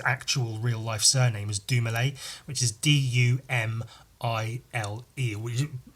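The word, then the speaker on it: Dumile: real life surname is dumalay which is d-u-m-i-l-e would you like spelled like do mile but it's pronounced doumalay um and he uses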